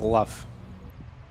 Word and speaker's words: Luff: I think it's just Luff. I think you just pronounce that like normal. No, but it's Australian accent. So. That's not... Luff is not an Australian accent. It's like roof.